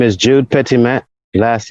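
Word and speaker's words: Petitmaitre: sure that the record is clear uh please spell it for us uh my name is jude pitimet last name p e t i t m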